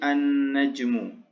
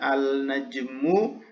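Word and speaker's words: النجم: Maka ketika dimasuki alif dan lam, maka dia menjadi an-najmu. An-najmu. Tidak boleh kita membacanya al-najmu atau al-najmun. Nah, itu tidak boleh ya. Maka harus dibaca dengan an-najmu. Karena alif lam di sini adalah alif lam syamsiyah, yaitu alif lam yang mengharuskan huruf sesudahnya itu bertasydid, ya harus ada tasydidnya seperti ini.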